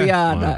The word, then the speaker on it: Guiana: Guiana.